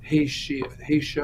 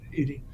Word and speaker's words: Haiti: Venezuela Cuba or wherever ha haia or you know Haiti sorry mispronounce it Haiti uh Ukraine for example